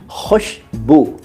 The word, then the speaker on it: खुशबू: खुशबू नहीं, कई लोग कहते हैं खुशबू, वो सही उच्चारण नहीं है। कई लोग कहते हैं खुशबू, वो भी सही उच्चारण नहीं है। सही उच्चारण तो है खुशबू।